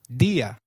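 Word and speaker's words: día: Did you notice that dia has an I marked with an accent? In Spanish, if a word is marked with an accent, then that syllable receives the stress. So try saying dia again.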